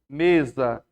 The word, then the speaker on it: mesa: Geralmente, quando o S está entre vogais, ele tem som de Z, ó. Mesa. O S está entre vogais, ele está com som de Z.